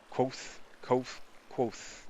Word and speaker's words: Kvothe: Quoth. I think it's Quoth, but it's spelled Kvothe.